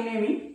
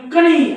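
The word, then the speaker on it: knee: या एन च्या अगोदर या एन च्या अगोदर जर स्पेलिंग मध्ये के आला तर हा के नेहमी सायलेंट असतो आता बघा या शब्दाला काय वाचता तुम्ही कणी असं वाचतात का नाही कणी नाही म्हणत ना आपण याला नी म्हणतो बघा नी म्हणजे यात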